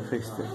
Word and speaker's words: Foerster: Y esta pinza de prensión y tracción es la pinza de Fester. Se escribe Foerster. Foerster. Se pronuncia Fester.